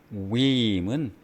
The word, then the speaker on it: whim: 휘임은 H가 묵음입니다.